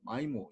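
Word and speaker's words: MIMO: 되고 아이라고 발음하기도 그러니까 이걸 미모 이렇게 읽을 수도 있고 마이모 이렇게 읽는데 우리나라 사람들은 미모라고 읽고 미국 사람들은 마이모라고 읽어.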